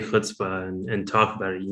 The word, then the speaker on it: chutzpah: Is it chutzpah? No, it's not a ch like chai, like chai tea. It's not a hard K like character or chaos. It's ch, as if you got a chicken bone caught in your throat.